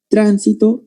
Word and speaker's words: tránsito: Porque cambia el acento. ¿Te acuerdas que dije guío, guió? Tránsito, transito.